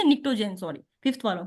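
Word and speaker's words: pnictogen: इसको आप ऐसे याद रख सकते हो, निक्टो पी साइलेंट है फॉर एग्जांपल, आप समझो पी है ही नहीं।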